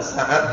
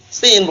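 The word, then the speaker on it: سين: Namanya apa ini namanya? Sin, bukan sa.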